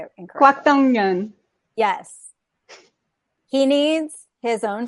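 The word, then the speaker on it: 곽동연: Kwak Dong Yeon.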